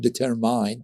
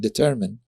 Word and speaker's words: determine: So I took a phonetic course, and I discovered that some words, like not determine, but determine.